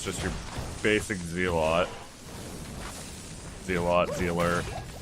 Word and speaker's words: zealot: it's just your basic z-lot see a lot dealer suppose zealot is the proper way to say it but i'm not a